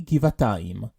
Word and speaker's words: גבעתיים: Notice here how the kaf is pronounced in its hard version, since it's the first letter in the word. However, the fei and vet are in their soft versions, since they're not at the beginning of their respective words.